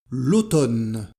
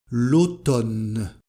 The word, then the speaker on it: l'automne: les saison l'été l'été l'automne l'automne alors on ne prononce pas la lettre M l'automne l'hiver l'hiver et le